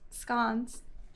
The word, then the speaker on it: scones: we have to try one of the homemade scans did I say it right you did and